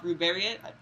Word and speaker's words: Ruberiot: ones, but uh, we met we we saw Ruberiot.